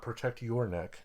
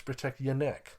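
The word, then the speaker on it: Protect Ya Neck: to pronounce it correctly it's not protect your neck it's protect your neck protect your neck Wang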